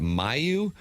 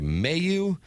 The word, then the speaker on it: Mailloux: But when we went to the pronouncer yesterday during the commercial break, we got Mailloux, and then we heard Doug Armstrong say Mailloux.